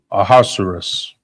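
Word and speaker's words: Ahasuerus: nationality uh let's His name, how you pronounce his name is Aosceros.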